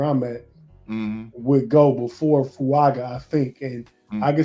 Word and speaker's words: Fuaga: Fuaga.